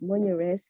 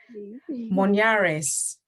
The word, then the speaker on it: Monyaress: so yeah sorry um so as i said monia res so i'd love to hear you as well have a go at pronouncing it because it is i had a